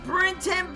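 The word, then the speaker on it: Brinton: But it is spelled B R I N T O N. That's Brenton Brush Works.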